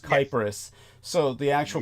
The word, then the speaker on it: Cyprus: The actual Greek word is with a K, and it's pronounced Kypros.